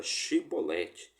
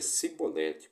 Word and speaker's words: Chibolete: não então L diziam diz agora chibolete e ele dizia sibolete pois ele não conseguia pronunciar corretamente então eles os levavam